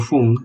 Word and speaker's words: HUM: Someone once told me that the word Hoom is like the father and mother coming together, and that is exactly right. It's spelled H-U-M, so let's try this Hoom sound.